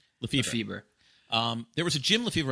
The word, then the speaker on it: Lefebvre: How do you pronounce his last name? Lefebvre.